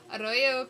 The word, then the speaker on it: arroyo: Arroyo, oh right, you roll your R's. Arroyo claro, fuente serena.